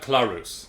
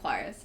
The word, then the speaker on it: Claris: Catching Up Clarus. No, it's Catching Up Claris. Yes, but it will only ever be pronounced as Catching Up Clarus.